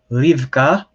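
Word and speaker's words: רבקה: israel which of course is israel you have rivka which becomes in english rebecca you have nemo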